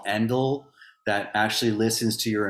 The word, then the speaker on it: Endel: It's Endel. Endel, like like end and then EL.